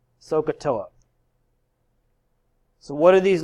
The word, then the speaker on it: SOHCAHTOA: to know a little phrase that phrase is pronounced sohcahtoa so what are these letters stand for well